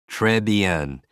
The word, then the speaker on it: très bien: Très bien means very good. For me, that sounds like tray and bean.